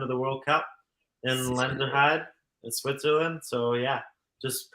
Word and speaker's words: Lenzerheide: It's called Lenzerheide, and it's Lenzerheide.